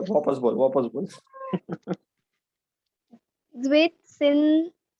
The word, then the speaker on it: Zwischen: है, जेड का full form है, कैन यू प्रोनाउंस दिस? मजा आएगा बोल। Zwitsin very good. TB. हाँ हाँ इट is called Zwischen-Ship। O first ठीक है हाँ. वापस बोल वापस बोल। Zwitsin हाँ स्पेलिंग याद करना है अच्छे से, ठीक है?